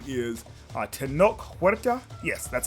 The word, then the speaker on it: Tenoch Huerta: Submariner, played by, I think his name is Tenoch Huerta.